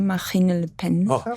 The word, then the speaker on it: Marine Le Pen: Temos que falar de Marine Le Pen. Estou a pronunciar bem? Marine Le Pen.